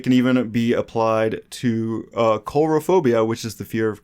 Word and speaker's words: coulrophobia: repeat that one more time I believe it's pronounced coulrophobia it's a sounds like did you check before